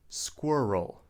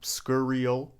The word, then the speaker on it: squirrel: this cute little animal, we say squirrel. Not scurriel, but squirrel. Squirrel. Repeat after me.